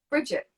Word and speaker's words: Brigitte: Hello, Brigitte. Are you there? Hi. Hi. How are you? Yeah, I'm really good. How are you? Good. And is it pronounced Brigitte? Is that right? Bridget.